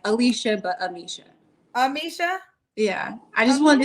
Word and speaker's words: Amicia: Amisha, like Alicia, but Amicia. Am I saying it right when I say Amisha? Yes. Amisha, Indianapolis, 32.